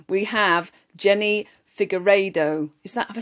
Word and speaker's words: Figueiredo: on today's podcast and I'm gonna have to pronounce her name correctly we have Jenny figueredo is that ever said it right yes perfect